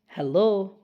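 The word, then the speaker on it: hello: হ্যালো। দেখো এখানে ই sound আছে, কিন্তু ইটা একের মতো উচ্চারণ হয়ে যাচ্ছে। এক এক, হ্যাঁ হ্যাঁ, হ্যালো হ্যালো হ্যালো।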